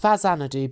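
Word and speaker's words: Faxanadu: Pronounced Fazanadu because it's the Famicom version of Nihon Falcom's legendary action RPG Xanadu or Dragon Slayer 2, Hudson released this Famicom reimagining of the classic action RPG.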